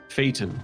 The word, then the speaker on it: Phaeton: And I even looked up the pronunciation of this the other day. Phaeton, I believe, is how it's pronounced.